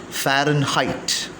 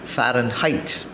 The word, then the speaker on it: Fahrenheit: share some points about fahrenheit though the word fahrenheit is usually pronounced as foreign heat it is the exact pronunciation as for the cambridge advanced learners dictionaries fahrenheit now fire and height is used more commonly